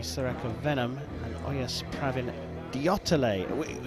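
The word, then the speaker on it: Deotale: India with Jyoti Sureka Venom and Oyas Pravin Diotale. It's taken us a little while to get the pronunciation of this 20-year-old Indian, but we have been told it is definitely Diotale.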